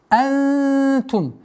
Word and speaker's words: أنتم: Ма антум. После долготы четкое произношение буквы хамза с фатхой. Ма антум. Ма. Чтобы фатха, огласовка хамзы не было продолжением удлинения ма. Мантум. Это ошибка. Антум.